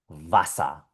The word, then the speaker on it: Wasser: La W en alemán siempre va a sonar como una V. Va, ve, vi, vo, vu. Y aquí tenemos varios ejemplos de palabras donde aparece esta letra. Por ejemplo, Wasser.